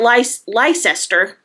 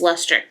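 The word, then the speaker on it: Leicester: It's not lice lester, it's luster.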